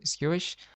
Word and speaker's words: sqsh: are going to use sqsh command that is pronounced pronounced skewish we use the interactive database shell so the simplest syntax of using this would be uh squish and then dash s